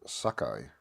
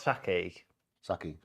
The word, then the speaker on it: saki: One of 5 species of bearded sakai, all found in South America. You pronounce it as Sakai. Sakai, I think so. Sakai. Could be. Not Saki. Sakai. Uta Hicks Bearded Sakai.